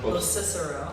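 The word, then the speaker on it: Locicero: And I never am confident that I pronounced Craig's name, his last name, right? Lucicero? Los Cicero.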